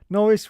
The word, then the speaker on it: Norris: Norris rhymes with Boris.